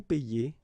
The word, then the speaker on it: paye: Okay, and in that case it's quite funny because we tend to make the difference maybe in pronunciation, so between this one, je paie, and then some persons can pronounce je paye.